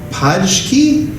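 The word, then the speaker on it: Pączki: In Poland, they were called Paczki, I think is how you say it. Paczki, flour buds.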